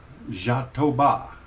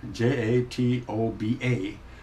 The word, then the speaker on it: jatoba: wood I'm going to be using is is pronounced jatoba and that's exactly how they pronounce it is spelled j-a-t-o-b-a but the pronunciation is z h a a